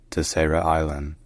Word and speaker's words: Terceira Island: But in English, just saying Terceira Island is alright.